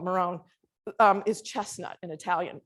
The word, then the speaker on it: Marrone: from Europe yes well in Italian it's Moroni but we call it Marone um is chestnut in